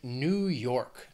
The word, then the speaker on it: New York: Then another very well-known state, New York. Two syllables, stress is on that second syllable, that second word, New York.